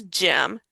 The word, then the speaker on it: gym: Okay, here with this gym, G Y M. It's going to sound like a J because it's before the Y.